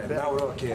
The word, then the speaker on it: Nawrocki: Gave me a little different pronunciation. I said, I want to get it perfect. Did I get it right? Yeah. Good. Good. Yeah. Nawrocki.